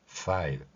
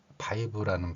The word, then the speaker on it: five: F 발음을 내면서 뒤에 소리로 R을 연결시켜 보겠습니다. 파, 파. 이 파 발음을 하면서 뒤에 E하고 V에 해당하는 소리, 이 소리를 연결시키면 five 이렇게 발음할 수 있다는 것입니다. 이 발음은 일제강점기를 거치면서 형성된 five라는 발음과는 많이 다르다는 것을 볼 수 있죠.